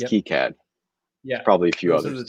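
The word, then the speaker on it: KiCad: to pronounce k-i-c-a-d because i always say kai-cad and i heard him say key cat and it turns out brian's right it's key cad it is okay so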